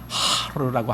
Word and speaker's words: 하르: 근데 아는 원래 히브리의 발음으로는 하르라고 하는 하르, 이게 이제 히브리 발음인데 그 하르라는 것은요, 산이라는 뜻입니다.